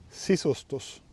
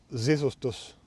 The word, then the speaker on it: sisustus: sitten ääntää Suomen sanaa sisustus. Mä äänsin sen usein. Sisustus. Kielitiede auttoi mua ymmärtämään, miksi mä lausuin sen väärin ja miten ääntää sisustus oikein. Sisustus.